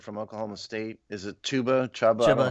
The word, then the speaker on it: Chuba: Is it Chuba? I don't know how to pronounce it. Yeah, Chuba.